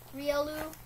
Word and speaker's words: Riolu: take a role really oh yeah riolu that's how you say it really yeah plus two